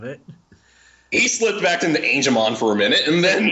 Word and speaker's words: Angemon: It's not hard to pronounce Angel.